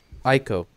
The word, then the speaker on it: Eiko: wait wait a co-write I cope it's no no no no come on listen as a kid I pronounced the Eco which is clearly wrong it's definitely ICO look Camaros we're Americans